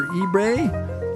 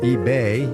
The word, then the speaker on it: eBay: Wall Street's reaction to GameStop's unsolicited offer to buy the much larger eBae, eBay, eBay, not eBae, not super enthusiastic either way, no matter how you pronounce it.